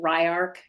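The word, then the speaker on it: Ylark: And then we have Ryark. It looks like it's Radark, but I looked it up and you pronounce it Ryark, which means the power of vision.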